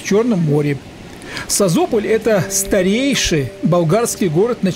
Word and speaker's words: Созопол: выехали в город созополь по-болгарски произносится без мягкого знака sozopol созополь находится в тридцати